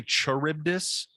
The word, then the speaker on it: Charybdis: I might be wrong, because like what's funny is I say Charybdis in our song Torn Between Scylla and Charybdis, but it's actually Charybdis. So I said it wrong in the song and screamed it wrong.